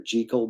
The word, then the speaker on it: Jekyll: Dr. Jekyll is actually pronounced Dr. Jekyll, but heck with that. We've been calling him Jekyll forever.